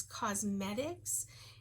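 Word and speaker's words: Qosmedix: I get them off of a website, but they're called they're called makeup sponges, but the website is Cosmetics, and it's spelled with a Q-O-S-M-E-D-I-X, I believe.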